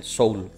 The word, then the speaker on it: Seoul: यहाँ पे मैं आपको स्पेलिंग बता दूँ, SEOUL, सोल, सोल के नाम से सिटी यहाँ पर डाल देना है।